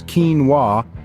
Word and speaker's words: quinoa: this Tiny But Mighty grain pronounced as quinoa originally hails from South